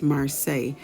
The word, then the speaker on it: Marseille: I say it wrong a lot of times in this video, but it's pronounced Marseilles.